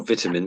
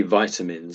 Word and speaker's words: vitamins: vitamin C, I Or vitamins, suppose. yes, yeah. I think the Americans say vitamins, I think, but the Brits tend to say vitamins.